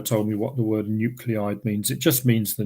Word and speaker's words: nuclide: Sometimes you might come across this word, which is pronounced nuclide, and that just really means exactly the same.